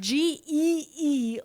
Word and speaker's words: Geertruida: Geertruida. Is she Dutch? She was born in the Netherlands. Okay, yep. Because the way that's spelled is crazy. Yeah. That is spelled, it's Geer, like that E, the gear.